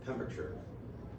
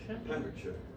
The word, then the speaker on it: Pembrokeshire: Pentrefan in Pembrokeshire, or Pembrokeshire, as you would say it correctly in England. Pembrokeshire.